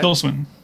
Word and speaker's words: Tilda Swinton: Tilda Swinton.